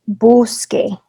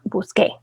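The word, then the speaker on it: busqué: with that right because accents can change the person they can change the tense they also change the pronunciation of the word so it's boosky in this context not busque pagar gar verbs the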